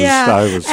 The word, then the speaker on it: Stuyvesant: I'm saying the wrong way. Well, no, that's the way we pronounce it, Stuyvesant.